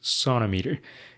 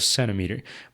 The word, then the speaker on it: centimeter: people apparently have and nobody really knows who started saying sonter instead of centimeter. But one common explanation is that the pronunciation sonometer sounds closer to the French salt apparently.